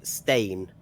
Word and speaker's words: Steen: the pronunciations as well i think steen is stain stain okay and i know